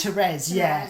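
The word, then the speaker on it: Thérèse: And I think it's pronounced Therese. Yeah, it's spelled Therese, but it's Therese.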